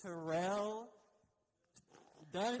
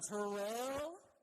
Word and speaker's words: Terrell Dun: So, it's Terrell Dun. Say it one more time. Terrell.